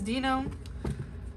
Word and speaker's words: Dino: i pronounce his name it's not dino right it is dino i hope so all